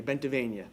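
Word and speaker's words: Bentivegna: My name is Bentavenia, so if you want to say it like a true Italian, like Pennsylvania, Bentavenia.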